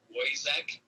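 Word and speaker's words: Woyzeck: a play called poison it's still like spelled like boyzak w-o-y-z-e-c-k uh it's a german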